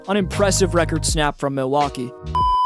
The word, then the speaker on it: Milwaukee: Regardless of their second-round exit in the playoffs, an impressive record snap from Milwaukee. Actually, it's pronounced Milwaukee, which is Algonquin for the good land.